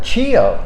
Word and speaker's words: Chio: And we're here this afternoon with, Chio. Did I pronounce that right? Chio. Oh, Chio.